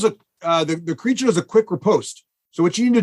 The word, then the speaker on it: riposte: He does the creature does a quick riposte. So what you need to do, or Craig, how do you pronounce that?